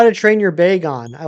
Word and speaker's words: Bagon: It's Bagon, not Beon. Gotcha. You don't have the heart to look it up. That's fine. I'm gonna I'm gonna pronounce it how I How did I pronounce it? Beon. I think I always pronounced it Beon. But Baggin makes more sense.